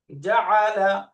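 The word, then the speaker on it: جعل: এরপরের শব্দটা দেখেন, জিম ফাতহা যা, যা, যা, আইন ফাতহা আ, যা, যা, যা, লাম ফাতহা লা, জাআলা, জাআলা।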